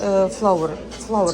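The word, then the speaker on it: flour: Флор Тортилас, Flower. Это читается так же, как цветок.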